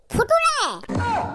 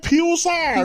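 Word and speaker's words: future: টি ইউ আর ই ফুটুরে ফুটুরে হ স্যার ফুটুরে মানে হইছে ভবিষ্যৎ লিখা আছে স্যার হেট উচ্চারণ ফিউচার নট ফুটুরে এফ ইউটি ইউ আর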